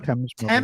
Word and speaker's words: Thames: Silent H. I didn't say the H.